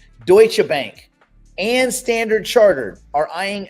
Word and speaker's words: Deutsche Bank: Uh, let's talk about Douchebank. Sorry, sorry, sorry. Not Doucheb Bank. Did I spell that wrong? Deutsche Bank and Standard Chartered are eyeing an expansion into the US crypto market.